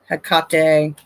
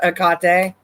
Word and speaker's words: Hecate: yes ma'am hecate hakkatai hakate every time i hear it's pronounced akate it makes me feel like they're trying to say uh like cottage cheese or something and they're just saying it wrong it just doesn't sound